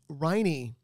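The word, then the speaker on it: Riney: Scott Trade um oh riny rhymes with hiney oh I'm not going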